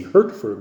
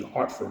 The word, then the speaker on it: Hertford: And there's a place called Hertz, or Hartford. They call it Hertz for short. Not Hartford, Connecticut. It's spelled H-E-R, so you might want to say Hertford, but it's actually Hartford, they pronounce it.